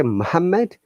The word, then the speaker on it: Muhammad: one l sound and we have to only pronounce only one letter one consonant okay so if you say muhammad and that will not